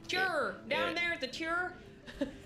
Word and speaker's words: Tyr: So, Tyr is spelled T-Y-R. For Yeah. Is everyone it? to know, yes. Yeah. Like her. Tur.